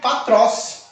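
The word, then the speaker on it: πατρός: ou a sílaba acentuada o éson ele cai tá ele sofre aquilo que cham síncope E como que fica Professor ficaria patros igualmente como está aqui patros ficaria pa tross patros patros Ok no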